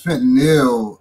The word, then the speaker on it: fentanyl: What is, how do you really pronounce it, Bob? I believe it's fentanyl, actually.